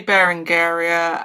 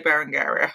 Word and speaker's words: Berengaria: to say it, but I would say Barangaria. I think that's the way to go with it.